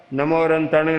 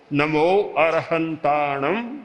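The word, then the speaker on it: णमो अरहंताणं: इसीलिए जप के लिए भी उच्चारण का बड़ा महत्व है। अब बोलेगा नमो अनंताणं नमो सिद्धाणं नमो आयर्याणं, कोई ज्यादा शक्ति नहीं बनेगी, शक्ति का चक्र नहीं बनेगा।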